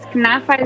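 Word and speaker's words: knafeh: you posted it this weekend the uh uh KFA is that how you say it yes kafa is another amazing Middle Eastern dessert that it's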